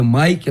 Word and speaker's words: Mick: Só que, como meu nome se escreve Mick, se lê Mike, né?